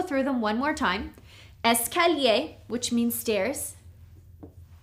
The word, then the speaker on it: escalier: The first one is escalier. This means stairs, okay? Escalier. The second one is ascenseur. This is an elevator. Ascenseur. Okay. Here we have 1, 2, 3, 4 syllables.